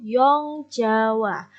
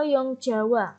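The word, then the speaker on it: Jong Java: pertama adalah trikorodarmo atau young Jawa jadi bacanya Young bukan Jong ya dan nyawa bukan jumpa trikorodarmo atau young Jawa Hai ini organisasi pemuda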